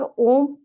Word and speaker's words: ओम: इसके बाद आप 3 बार ओम बोलेंगे। कैसे बोलेंगे? गहरी साँस लेंगे, साँस को होल्ड करेंगे और उसके बाद जब ब्रीथ आउट करेंगे तो अ, ओ, म को प्रोनाउंस करेंगे।